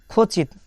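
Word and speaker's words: хочет: তাহলে খচিত, খচিতের উচ্চারণটা কেমন হবে? প্রথম অক্ষর খ, তারপরে ও, খ, তারপরে দেখা যাচ্ছে চ এর মতন চ, এ তে, চেত, খ চেত।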